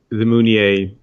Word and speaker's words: Meunier: I guess it sort of depends if you want to go with the French pronunciation there or not. And no, it's Meunier.